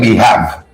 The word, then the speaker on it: behave: You know, how HAVE you gonna be have? Wave, cave. So it's BEHAV. It's behave. It's behave.